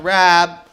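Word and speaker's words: Raab: I believe it's pronounced Rob.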